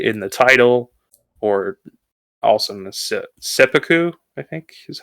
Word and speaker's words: seppuku: for those language nerds there's an extension of the consonant uh in seppuku yeah a couple semesters